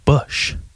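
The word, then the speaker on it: Busch: life I've never had bush light bush is such a strange word because it's spelled differently than how it sounds as most English words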